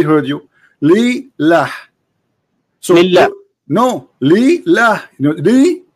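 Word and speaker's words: لله: There's two letters. Li lah. So we say it fast, we say lillah.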